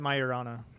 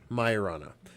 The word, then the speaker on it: Majorana: They pronounced it Majorana. Majorana.